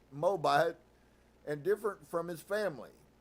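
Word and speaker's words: Moabite: stand the thought that she was a moabit pronounced moabit and different from his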